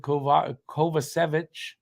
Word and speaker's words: Kovacevic: Jacki and Kovacevic. That's how you pronounce it.